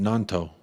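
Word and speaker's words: Gnonto: Nanto. Willie Nanto. That's right. I know the G is silent, but I just didn't know if it was Nanto or Noto.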